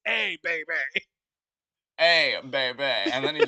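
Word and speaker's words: A Bay Bay: No, it's not hey. It literally, the way that the title of the song is spelled is the letter A space B-A-Y space B-A-Y. It's A, baby.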